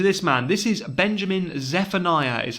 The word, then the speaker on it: Zephaniah: introducing you to this man this is benjamin zephaniah is how you pronounce his uh surname fantastic writer british writer